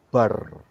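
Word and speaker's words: בר: Saudara akan lihat kalau saudara gabung kata huruf, maksud saya, huruf Beth dan huruf resh, itu bacanya bar, yang artinya adalah putra atau son.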